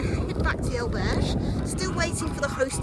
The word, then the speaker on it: albergue: Now, before anyone points it out, yes, I do realise I was mispronouncing the word albergue in the video clips that you've just watched. For some unknown reason, I was putting a slight French twang on the word. I don't know why that was.